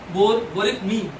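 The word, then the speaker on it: borborygmi: But there's a mnemonic for you guys to pronounce it and memorize it easily. B-O-R-E, B-O-R-E, why? G-I-B-E-M-I. Bore, why give me?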